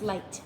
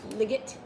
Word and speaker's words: light: right and light that the gh is silent oh so it's light yeah light it's not ligament ligget all right okay focus